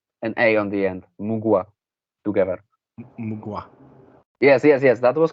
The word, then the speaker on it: Mgła: In Germany we say MGLA because it's just like the letters.